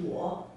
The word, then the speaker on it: 我: this character is pronounced as a war war and it normally refers